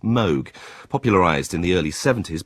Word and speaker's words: Moog: 20th century is commonly referred to as the Moog synthesizer. Though in sharing its inventor's name, the instrument should really should be pronounced Moog.